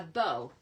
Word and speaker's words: bow: your finished card okay a bow it rhymes with oh Bow okay thank you oh